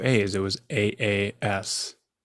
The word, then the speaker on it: Aas: It was AAS, not ASS. It was AAS. So always that last name at the top of every list because it's a double A name, pronounced like Austin.